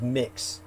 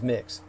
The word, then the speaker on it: Mx: per Marium Webster is mix you pronounce it as mix um as in mix